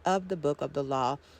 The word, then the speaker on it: AL: Both editions were titled by Crowley AL, pronounced L, value 31, so therefore Liber 31 is the manuscript of the Book of the Law called L, not to be confused with Liber 31 by C.S.